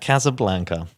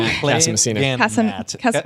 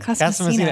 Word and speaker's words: Casamassina: Matt Casablanca. Did I pronounce that wrong? Casamassina. Why did I say Casablanca? Casamassina.